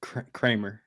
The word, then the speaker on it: Kremer: pronouncing his name wrong Kremer or Kramer uh it's Dean Kramer krer Kramer okay Kramer and Marsh going up